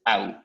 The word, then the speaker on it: au: So you pronounce it au, like when you hurt your leg or something, au.